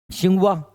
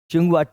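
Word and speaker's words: Tsinghua: हमारा यही है जो सिंघवा सिंघवा कहां पर है चीन में और दूसरा सिंघवा 30 साइलेंट है चीन अब मैंने कल ही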